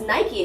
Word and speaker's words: Nike: so we'd be like no it's nike and he's like look at the spelling look at the spelling he's like does this say night or not so like now he says nike because like he realized but like as an english learner he he said nike yeah but a lot a